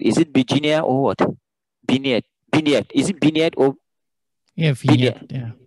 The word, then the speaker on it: vignette: So, sounds French to me, actually.